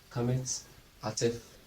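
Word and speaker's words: qamets hatuf: Kametz ataf cannot form an open syllable because it's a short vowel.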